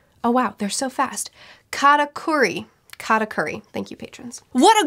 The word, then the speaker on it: Katakuri: Katakuri.